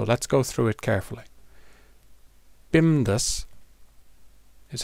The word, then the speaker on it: BIMDAS: Bimdas is how we pronounce this word.